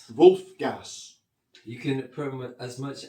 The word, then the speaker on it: Wulf Gas: I'm um I'm here with Hu Hugo Wolf. Sorry. I'm here with Now, you have to give me the minus the correct pronunciation. I want Wolf Gas. Wolf Gas.